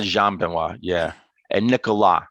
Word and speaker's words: Nicolas: And Nicolas. So you don't actually pronounce the S.